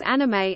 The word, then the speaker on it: animé: sake, Pokemon, and Kobo-Abe, English language texts sometimes spell anime as anime, as in French, with an acute accent over the final E, to cue the reader to pronounce the letter, not to leave it silent as standard English orthography may suggest.